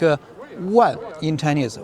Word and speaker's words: 万: Pronounced like a 万 in Chinese, 万字符.